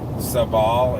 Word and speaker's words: Sabal: Like sable is supposed to be pronounced sabal in Latin, and butia should be butia.